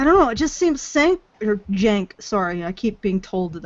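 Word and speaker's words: Cenk: It's a C. I'll be bugging if a C is pronounced J.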